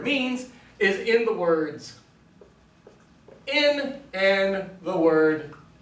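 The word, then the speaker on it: ἐν: is in the words in and the word hin. I know to pronounce the top one as in because it has a smooth or unaspirated diacritical, and the bottom one is hin.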